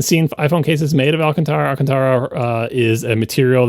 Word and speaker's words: Alcantara: incorrectly in my head I always pronounced it alantra which is not even close to correct but Alcantara or or close to